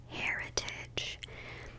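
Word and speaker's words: Hairitage: from the brand called heritage but it's spelled h-a-i-r like hair and then i-t-h-e so hair heritage by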